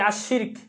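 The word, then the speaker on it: الشَّرَكُ: এখানে একটা জিনিস বলে রাখি, আশ-শিরকু মানে হচ্ছে অংশীদার করা, আর এই একই শব্দ বানান একই, জাস্ট উচ্চারণ ভিন্ন। আশ-শারকু, আশ-শারাকু, আশ-শারাকু, এই আশ-শারাকু শব্দের অর্থ হচ্ছে ফাঁদ, ঠিক আছে?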